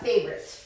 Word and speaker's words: favorite: What is your, guys, voy a apuntar la palabra favorite, porque esta la pronunciamos un poco diferente a cómo se escribe. Okay, blah, blah, blah, favorite. Favorite. So la O de en medio, like, ignórenla, 2 sílabos.